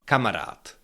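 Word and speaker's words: kamarád: word and it is that this last letter duh of this word I pronounce it a little bit differently. Kamarat kamarat. You can hear that it's not duh, it's t.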